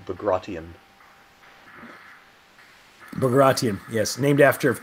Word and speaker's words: Bagration: One of the users here, Bro Rialli, says that the operation that destroyed Army Group Center is pronounced Bagration.